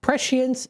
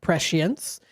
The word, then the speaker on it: prescience: Prescience is the word. It's a noun. It is pronounced prescience, and it's spelled Prescience.